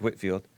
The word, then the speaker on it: Whitefield: John Whitfield or Whitefield I think it's Whitfield but it's spelled Whitefield but he was he